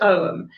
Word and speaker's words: Ogham: pronunciation is is perfect om it's spelt o g h a m but it's actually um a silent g so it's actually pronounced om and uh it is